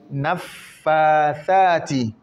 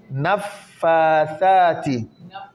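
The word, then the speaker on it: النفّاثات: Wa min sharrin naffathati. Thati. Ça. Tant que la langue ne saute pas, la lettre ne sera pas bien prononcée. Et la langue saute avant qu'on prononce, pas après qu'on prononce.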